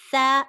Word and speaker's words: ث: Remember, the 2 upper incisors, and this is your tongue slightly sticking out. Tha alif.